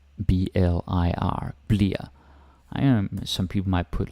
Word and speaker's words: bliver: Yeah, it's spelled bliver or bliver, but we almost never say that. Bliver, yeah, sometimes, but a lot of the time we pronounce it bliver, like kind of like this, B-L-I-R, bliver.